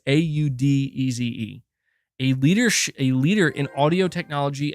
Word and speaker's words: Audeze: Audis? Am I saying that name correctly? Audis. That has to be how you say it. It's Audeze.